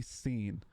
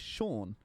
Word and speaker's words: Sean: Everybody calls me Scene. My name is Sean. Everybody calls me Scene when they read my name because it's spelled S-E-A-N.